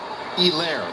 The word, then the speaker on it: Helaire: Helaire, the H is silent.